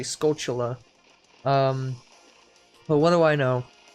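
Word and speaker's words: Skulltula: all the skull cellists skull tolas however you pronounce it I as a kid I pronounced it skull Tola but I think it's supposed to be skull Chula well what do I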